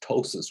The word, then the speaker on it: ptosis: That is pronounced ptosis without the P.